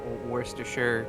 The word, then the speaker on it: Worcestershire: It's like a Worcestershire ketchup red wine reduction sauce. It's pretty good. I love that you pronounce Worcestershire correctly.